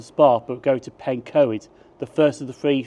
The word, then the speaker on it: Pencoed: I think I said at Bridgend I pronounced this as Pencoed, and that is so wrong, to be honest with you. To be honest, my Welsh does really suck. So I think the correct pronunciation is Pencoed.